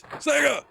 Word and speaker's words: Sega: that one seems to be like Sega being exasperated about how to pronounce it. It's like, it's Sega!